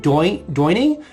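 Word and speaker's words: Doyn: It's pronounced Doining. D O Y N coffee.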